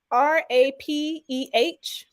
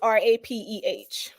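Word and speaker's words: rapé: It's Rapeh. Okay. Or they spell it Hape. Yeah, okay. Okay. But usually it's Rapeh.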